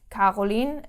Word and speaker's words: Caroline: So the pronunciation in a word, in a name like Caroline, is like K, like the K.